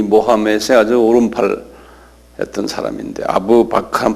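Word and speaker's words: أبو بكر: 아부 바크르라는 사람이에요. 이분이 이 모하멧의 아주 오른팔 했던 사람인데 아부 바크르 한번 발음해 보실래요?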